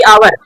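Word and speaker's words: hour: अगला इसको हम क्या पढ़ेंगे, हावर की आवर, प्रोनाउंसिएशन का आना जरूरी है। आवर में बड़ा आया, ये रिप्रेजेंट करेगा ए को, इसलिए क्या हो गया।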